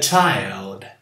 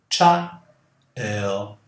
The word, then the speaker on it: child: Você fala primeiro cha, cha. Depois, il. Cha, il. Child. E não chai. Senão você põe um fonema que não existe aqui. Não é chai. É cha, child. Child.